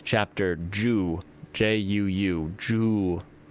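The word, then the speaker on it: juu: it's chapter ju j-u-u joo is the is how you say 10 in japanese so looking forward to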